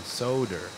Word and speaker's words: solder: a little flux and solder. Flux and solder. Paul, when you were teaching in the Marines, did you pronounce the L in solder?